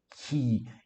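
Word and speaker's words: καί: Kai, escreve-se, pronuncia-se ki, imeis, o eta, o mi, o epsilon, o iota e o sigma.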